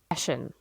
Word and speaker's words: Hessian: How to pronounce. I might be German, but it doesn't mean I can speak it. Hessian. Hessian. We were both wrong. We were. Hessian.